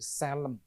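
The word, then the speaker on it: צֶלֶם: Dalam kurung, dalam bahasa Ibrani, Selem. Bacanya gitu, Selem.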